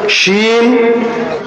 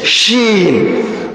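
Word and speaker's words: شين: শিন তাফাসসি মানে ছড়িয়ে ছিটিয়ে যায়, এই ছোট ছোট ছিদ্র দিয়ে শিনের উচ্চারণটা বের হয়, বের হয়ে আওয়াজটা কেমন হয়? ছড়িয়ে ছিটে যায়, ছড়িয়ে যাচ্ছে না আওয়াজটা?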